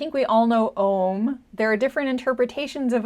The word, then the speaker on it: Om: reflecting on, I mean, the way it's explained is Aum. Not that you would say it that way, but like the root syllable or the root letter is A, the vowel marker is O, and then the little designation, anyway, it's a little bit technical, but the little semicircle and the dot above the syllable mean that it's Om instead of O.